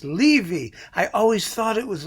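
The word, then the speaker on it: Leevi: pronounced his name wrong i said it was levy it's leavey i always thought it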